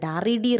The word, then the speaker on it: read: Spelling same, but pronunciation is quite different. Read. R-E-D red alla, R-E-A-D തന്നെയാണ്.